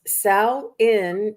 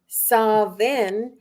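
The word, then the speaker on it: Samhain: word meaning Summer's end it's pronounced sa in in Ireland sain in Wales saen in Scotland and pumpkin spice in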